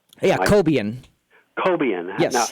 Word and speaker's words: Cobian: On your last program, you mentioned a backup type of Cobian or Cobine. Yeah, Cobian. Cobian. Yes. Now, how do you spell that?